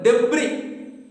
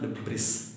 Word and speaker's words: debris: More problems arose when our hand pump started to block up with the debris. It is not debris, debris. Yes, is silent there.